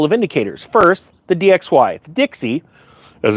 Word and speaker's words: DXY: First the DXY Dixie as it's pronounced or called sometimes.